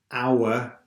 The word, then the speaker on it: hour: don't pronounce the H our we don't pronounce the H but normally we pronounce